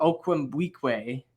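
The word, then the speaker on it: Okwuegbunam: pronounced Albert o and how they say it it's like Albert okum weak way and like they they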